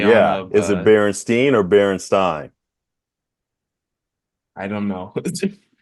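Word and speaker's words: Berenstain: And it's kind of like, how do you pronounce it? Like for those that think that it's the Berenstein Bears like I do, you'll be sad to hear like, no, it's the Berenstein Bears.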